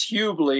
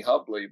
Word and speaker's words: Hubley: And then my last name is Hubley, even though everybody calls me Hubley because that's the way it's spelled.